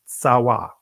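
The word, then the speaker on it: צוה: Tazawa, and I'm pronouncing it in the ancient Hebrew. So tazawa or tsawa, it reads, it says to constitute, appoint, command, commander, commandment.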